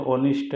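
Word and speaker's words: honest: ओ से पढ़ेंगे तो ऑनेस्ट हो जाता है। तो इसमें जब लिखेंगे तो एच से लिखा जाएगा, लेकिन पढ़ेंगे तो ओ से पढ़ा जाएगा ऑनेस्ट। तो एच साइलेंट हो जाता है, तो इसलिए हम ओ देखेंगे।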